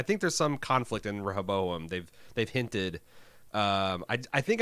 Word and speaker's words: Rehoboam: there's some conflict and Rehoboam they've they've hinted I think I'm saying that by just skipping the second syllable now this is wrong Robo roboam ro boom there's some